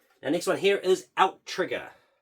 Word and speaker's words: Outtrigger: which I thought it was until I saw the 2 T's, and then you hear the intro, it's like, Outtrigger. It's like they should have put a space in it if they're going to say it like that.